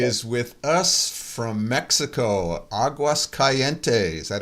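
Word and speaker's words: Aguascalientes: is with us from Mexico, Aguas Calientes. Is that how you pronounce that?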